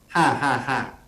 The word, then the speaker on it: 555: Yes, in Thai language, Yeah. Wi-Fi we pronounce ha ha ha.